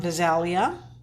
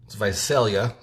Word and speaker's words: Visalia: is tuning in from Visalia Visalia okay I say it like Vidalia onion these are those heart